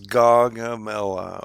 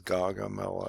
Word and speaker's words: Gaugamela: And it's amazing that if you look at this is Gaugamela, okay, and that's how they say it, is Gaugamela, at least the videos that I watched and how they pronounce this.